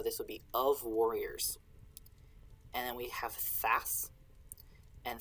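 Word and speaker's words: ⁊: So you pronounce this and.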